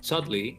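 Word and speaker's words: Cholmondeley: I think it's one of the most British things where it's pronounced Chudley, but spelled Sumondly.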